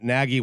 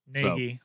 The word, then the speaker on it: Nagy: Nagy, although it's spelled Nagy. Nagy. If you're in Chicago, it's Nagy.